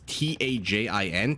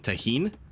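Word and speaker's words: Tajín: spice that we have I don't know if the J is pronounced like an H or just like a j it's t-a-j-i-n Tajin tahin do we uh we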